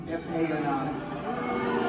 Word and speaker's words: Fani: It's called, look at Fani, F-A-N-I. It should be pronounced Fanny. Fani. They say she gets very upset if you call her Fanny, F-A-N-I.